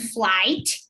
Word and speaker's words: flight: And flight, you have to pronunciate the T. Okay, flight. Ah, então tem que pronunciar o T. Eu achei que era uma coisa mais discreta. No, you don't pronounce the G. Okay, forget about the G, and you just pronounce flight.